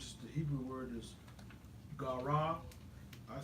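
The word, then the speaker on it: קרא: And so he makes a vow, which is the Hebrew word is Gara. I spell it Gara.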